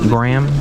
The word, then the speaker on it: Graham: do you say it Graham like the cracker she's I can't even